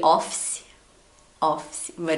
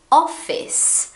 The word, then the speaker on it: office: When you see it, you probably say office, but it's not. It's office. Now, this word is very strange because you actually have to split the word, split the word into 3 parts.